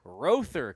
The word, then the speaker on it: Rother: Rother. Rother. I'm Rob Harvey alongside with Chism Holland. Like you row your boat.